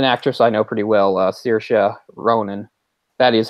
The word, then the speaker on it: Saoirse Ronan: I know pretty well Saoirse Ronan that is how you pronounce her name by the way it's a very odd very strange strangely spelled Irish name I'm glad you did